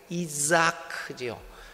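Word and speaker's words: יצחק: 원래 이 발음이 이삭이 아닌 이자크죠. 이자크라고 하는데 이 자하크라는 말이 웃다라는 말입니다.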